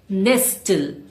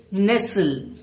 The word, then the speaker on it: nestle: It's not nestle. Say nestle.